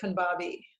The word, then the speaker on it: Khanbabai: I say Khanbabai, but Khanbabai. What did you say it? Yeah, Americans will pronounce it as Khanbabi. Khanbabi. Okay, I'll stick with that.